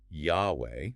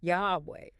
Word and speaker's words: Yahweh: But the scholarly consensus is that it was most likely pronounced Yahweh, Yahweh.